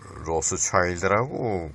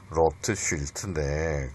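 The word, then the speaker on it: Rothschild: 슈클그루버인가 그런데 그 사람은 로스차일드라고 그렇게 영어를 발음하는데 원래 독일어로는 로트쉴트입니다. 로트쉴트인데 그 영어 발음으로 로스차일드라 그러는데 로트쉴트의 그 가문이 뭐 굉장히 그 돈이 많은 그 은행가 집안이었어요.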